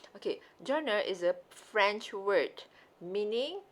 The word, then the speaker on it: genre: like so french okay so how you pronounce it it's like john okay genre okay so